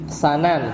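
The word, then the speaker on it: سَنَن: Sanan. Kalau dibacanya sanan artinya jalan. Kalau dibacanya su, ya, bidom misin dengan mendomahkan sin, itu maknanya metode, ya. Tapi ini bacanya pakai fathah, ya. Di fathah sin.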